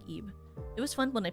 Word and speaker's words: Ib: Is this not pronounced Ib?